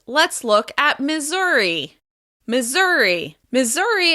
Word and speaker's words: Missouri: Missouri is stressed on the second syllable.